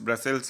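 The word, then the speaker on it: Brussels: ब्रसेल्स लिखा हुआ है लेकिन इसका सही प्रोनाउंसिएशन है ब्रुसेल्स, ठीक है, तो इसको याद रखिएगा।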